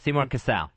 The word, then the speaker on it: Seymour Cassel: Yes, Seymour Cassell.